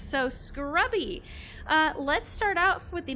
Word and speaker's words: Scrubby: It's actually just Scrubby.